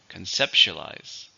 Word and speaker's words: conceptualize: head it's a verb how many syllables conceptualize five stress on the second syllable conceptualize it's difficult to conceptualize